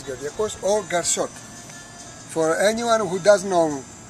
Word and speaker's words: Garsot: For anyone who doesn't know my name, the real name is Kardiakos, and becomes Garsot from the first syllable of Kardiakos, Gar, and the first syllable, Sot. Or together, Garsot, Kardiakos.